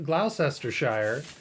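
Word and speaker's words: Gloucestershire: and for all to the Americans how to pronounce these English countries uh War sester Shire GL GL glester Shire lestershire and bling bling Faire yeah yeah those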